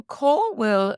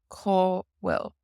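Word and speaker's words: cá bhfuil: So caw will means where is. Caw will. Caw will. Now this BH can be pronounced like a W in some dialects, but also like a V.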